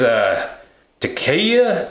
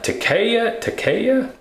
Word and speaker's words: Takeya: The brand is Takeya, Takeya, T-A-K-E-Y-A. That's how you say it.